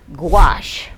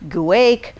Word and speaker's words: gouache: spell or pronounce and that is gouache pronounced Goo not guake not gacki not any of those things and you're wondering probably